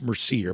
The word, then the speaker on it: Mercier: If you'll just search Mercier Orchards Hardsiders, it's pronounced Mercier, but it's spelled Mer C I E R.